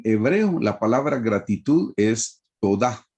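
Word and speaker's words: תודה: Hermanos, en hebreo la palabra gratitud es todá, así es como se pronuncia en hebreo, todá.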